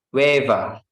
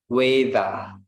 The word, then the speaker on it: weather: Dia juga biasa bilang waiver. Waiver, or umumnya orang Amerika bilangnya weather. Oke, sorry, weather. In a British weather, but in Manchester they say waiver.